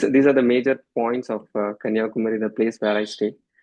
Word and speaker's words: Kanyakumari: So the pronunciation is Kanyakumar.